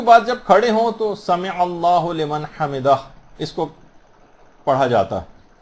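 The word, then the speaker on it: سمع الله لمن حمده: عام طور پر لوگوں کو دیکھا گیا سمع اللہ لمن حمدہ یہ پڑھتے ہیں، اس کو ہو لمن نہیں ہے، سمع اللہ لمن حمدہ.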